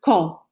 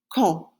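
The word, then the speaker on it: quand: for when in spanish in french though it's pronounced say one more time ko ko the next one is at what time what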